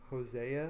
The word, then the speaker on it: Hosea: And there's another place in the Bible, I think it's in the book of Hosea.